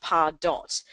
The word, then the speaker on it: Pardot: of the interview, but it's actually pronounced Pardot. And the reason why I'm telling you this is because it's Latvian, and the word in Latvian means to market or sell.